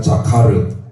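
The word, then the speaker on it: זכר: 이 자인이 지읒 발음이에요. 지읒. 늘 말씀드렸죠? 이 카메츠라고 하는 우자가 생긴 게 아 발음입니다. 아. 그게 나중에 구본손인데요. 기억이에요. 기억. 그 다음에 이것도 파타월에서 카, 자카, 이걸 레쉬라는 단어 르 소리 납니다. 그래서 자카르 이렇게 읽게 됩니다.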